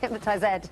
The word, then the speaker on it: hypnotised: Am I saying it the right way? Or you say hypnotised? Hypnotised Ed, yes. Hypnotised Ed, is that so that it rhymes? You only have to do exactly, so if you want it to rhyme, it's fine. If you're in conversation, you can just say it normally.